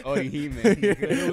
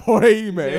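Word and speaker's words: Orihime: Nigga, it's Oihime.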